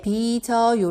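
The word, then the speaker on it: 빚어요: 한번 다시 한번 볼게요 b 저요 에는 즉 받침 있기 때문에 일대 b 저요 라고 읽어요 비서 요는 쉬우 받침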